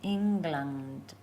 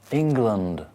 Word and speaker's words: England: Like England, land, but land with a D, not a T. Land. But I come from England. England.